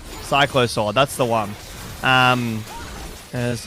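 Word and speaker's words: Cyclosword: this item, but and I'm going to pronounce it wrong, but the the the psych the cyclic sword cylo sword. Yeah, that cycllo sword.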